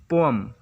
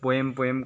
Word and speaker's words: poem: Number पर आता है वर्ड पोअम, इसका स्पेलिंग होता है POEM, पोअम। इसे हम लोग लिख सकते हैं इंग्लिश पर पो प्लस या हिंदी पर ऐसे लिखा जा सकता है POM, पोअम। इससे अक्सर पोएम करके प्रोनाउंस किया जाता है।